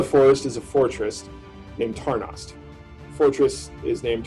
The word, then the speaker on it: Tarnost: there in the forest is a fortress named tarnost fortress is named tarnas and tarnas is spelled t-a-r-n-o-s-t just for you guys when you're